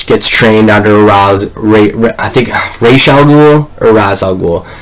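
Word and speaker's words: Ra's al Ghul: It's used, as far as I'm concerned, it's probably Raish Al Ghul. I'm pretty sure, but Raz Al Ghul is like the same thing, but it's not.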